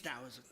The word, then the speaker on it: Taoism: And yes, the T is pronounced like a D, so is it Taoism or is it Taoism? It's Taoism.